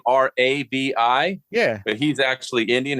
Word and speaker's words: Ravi: I learned that he spells his name Ravi, Yeah. but he's actually Indian. His parents are immigrants. And he said it's pronounced Ravi.